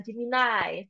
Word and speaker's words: Gemini: ya Bapak Ibu menjadi Gemini atau jimai sebenarnya membacanya dalam bahasa Inggris Nah Bapak Ibu tentunya